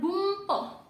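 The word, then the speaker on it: 文法: Di sini contohnya satu lagi ada bumpo. Jadinya ini sini tulisnya bunpo, tapi kita bacanya bumpo.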